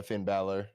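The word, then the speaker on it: Finn Bálor: Yeah, Finn Balor.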